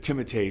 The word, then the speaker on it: Timothée: Although I think it’s probably more correct to pronounce it Tim-o-tay Chalamet. But my French is broken.